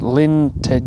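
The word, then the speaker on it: Llyn Tegid: how you pronounce it I think the lake is pronounced Lin Ted I'm gonna have to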